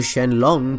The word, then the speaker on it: Shenron: conception of the Dragon Shenron well Shenron or shenlong pronouncing the Monga is named after the